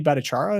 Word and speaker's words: Bhattacharya: One thing that excites me is I think, is it Jay Bhattacharya is how you pronounce it?